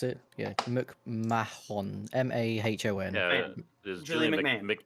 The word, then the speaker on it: McMahon: Julian Is that how you something, pronounce it? Yeah, McMahon.